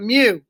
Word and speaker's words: mu: letter mu pronounce me like when a cat says Mew Mew you know not meow-meow but mu an x-bar is the